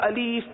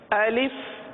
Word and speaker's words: الف: طرح پڑھتے ہیں لوگ، الف یا الیف پڑھتے ہیں، تو یہ ادائیگی غلط ہے۔ درست ادائیگی یہی ہے الف۔ اگر ہم اس کی